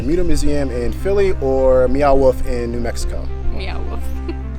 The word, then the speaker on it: Meow Wolf: museum in philly or meow wolf in new mexico yeah it's not neon wolf meow wolf wolf wolf there's